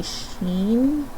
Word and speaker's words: Shin: uh and i guess his name is actually sheen because it's a long e sound um i looked into that i i like shin better but machine i think is how we're supposed to say his name well too late now